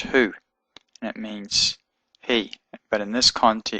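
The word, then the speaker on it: هو: a little dot in it Al and it's pronounced who and it means he but in this context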